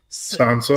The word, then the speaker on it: Sansa: Sansa.